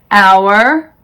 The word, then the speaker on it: our: The H is silent in these words: our, honest, honor, air, vehicle, exhausted, exhibit, rhyme, rhythm.